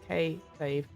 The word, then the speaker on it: kayfabe: in plain English book kayfabe pronounce two syllables K fave used both as a